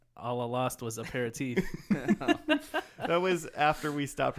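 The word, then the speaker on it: apéritif: Aperitif. Aperitif, yeah. Like I got punched in the face and like all I lost was aperitif.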